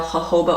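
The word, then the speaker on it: jojoba: oil grape seed oil hoba oil which is spelled like Joba um you can also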